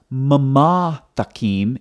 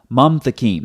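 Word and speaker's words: מַמְתַקִּים: So it's not mama takim, it's mam takim. That's why when you look at the transliteration over here, it's one syllable, mam, not mama.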